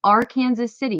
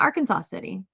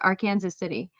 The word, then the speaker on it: Arkansas City: Kansas City is pronounced R Kansas City. Yes, that is the correct way to pronounce our Kansas City. It's not Arkansas City, it's R Kansas City.